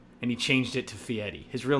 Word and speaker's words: Fieri: You think Guy Fieri, that's right, I said it right, Guy Fieri, prepares his own food?